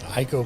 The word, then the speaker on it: Ico: This has big Ico vibes. Or Eco if you prefer the Japanese pronunciation.